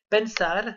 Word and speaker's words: pensar: Exemple, pensar, donc à l'infinitif, ce sera donc AR, la terminaison du verbe, donc un verbe en AR qui veut dire penser en français. L'accent tonique est sur le A de la terminaison, donc de AR.